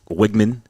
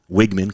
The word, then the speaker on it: Wigman: Um, and you know, Wiggman Wigman. Conor Wigman. That is how you pronounce his name.